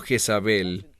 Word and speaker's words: Jezabel: esa mujer isabel ahora el término jezabel esa es la pronunciación en español en hebreo es isabel y el término y